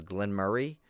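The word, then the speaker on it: Glen Moray: where they're from it they may pronounce it as Glenn Murray but it's really spelled Glenn like Moray like m o r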